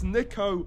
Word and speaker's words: Niko: wrong i can't believe it's nico not nico i don't know how